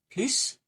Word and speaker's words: plus: Have you ever noticed that sometimes the word more can be pronounced with an s plus without an s pl or as a z sound.